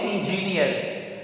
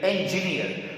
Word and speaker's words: engineer: और जब भी आखिर में आर आता है, इसको बहुत स्लाइटली, बहुत धीमे से प्रोनाउंस करना होता है। engineer, engineer, not engineer, we don't have to speak like that। engineer, इसको खा जाइएगा या बहुत हल्के से बोलिएगा।